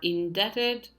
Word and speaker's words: indebted: the answers the answers are indebted where the B is silent in the next word